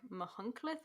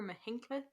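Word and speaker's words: Machynlleth: Welsh place names are like, apparently it's pronounced like Mahunclith or Mahinclith.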